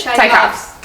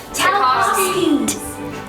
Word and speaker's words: Tchaikovsky: Tchaikovsky. Chai. It's Chai. There's no cha. It's Wait, somebody say it. Tchaikovsky.